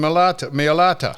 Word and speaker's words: Mailata: I can't pronounce his last name. Millet. Yeah, I knew it started with M. Jordan Mailata.